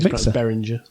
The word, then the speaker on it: Behringer: Bearinger Zenix 802 and it's a very nice little I think Behringer but yeah Behringer. Behringer. It's got a H in it so I just wanted to pronounce it.